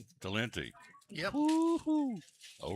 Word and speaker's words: Talenti: Talini? Talenti.